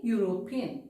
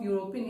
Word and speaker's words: European: For example, a European. Okay. Even though the letter E is a vowel, we pronounce, or the starting sound of European is y.